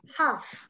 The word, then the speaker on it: half: In this case the L of half is not pronounced. So imagine it doesn't exist. Half is the correct pronunciation.